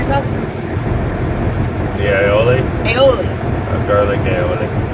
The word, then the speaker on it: aioli: The aioli, Aioli. garlic aioli. I never can say it right. I always want to call it olei.